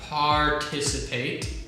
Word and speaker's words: participate: correct no incorrect okay so we have to say the r sound right so r par yeah participate participate correct and then